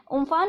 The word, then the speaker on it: Amphan: उम्फान को हम उम्फुन करके जो है प्रोनाउंस करते हैं।